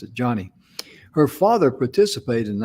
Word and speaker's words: Joni: she pronounced her name pronounces like johnny that's why she pronounced it joni it's j-o-n-i should pronounce it johnny her father participated in